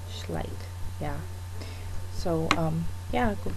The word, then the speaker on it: Schleich: check out schleich and keep pronouncing it differently like it's it's german schleich yeah so um yeah